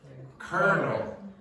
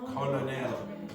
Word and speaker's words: colonel: Next one then, colonel. It is spelled like this, colonel. Okay? Colonel.